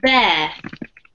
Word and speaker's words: bear: This this one's pronounced bear. Bear. Yeah. or bear if you want to use an American accent, but not beer because that's the drink.